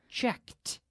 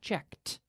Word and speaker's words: checked: sounds like a tea any time we have a regular verb that ends in a K in the past the ending sounds like a tea right check becomes checked okay look becomes yesterday